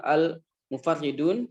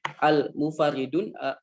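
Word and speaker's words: المفرّدون: Bisa dibaca al-mufarridun dengan tasdid ra wa takhfifiha atau tanpa tasdid ya. Tapi bisa juga dibaca tapi yang masyhur adalah menggunakan tasdid al-mufarridun atau al-mufarridun.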